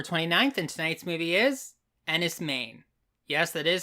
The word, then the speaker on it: Enys Men: Nights it's October 29th and tonight's movie is Andis M yes that is how it's pronounced I looked it up this is a